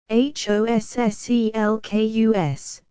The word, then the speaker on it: Hosselkus: Hossselkus, accent on the sale he was wont to